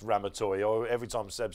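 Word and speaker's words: Ramatuelle: in the far again very easy to pronounced it's Ram toy every time Seb says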